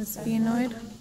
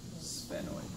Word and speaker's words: sphenoid: The sphenoid. Sphenoid or sphenoid. So like I switch pronunciation sometimes, so like however you guys want to say it is totally fine.